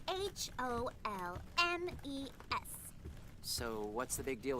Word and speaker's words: Holmes: She was pronouncing it the French way. It's spelled H O L M E S.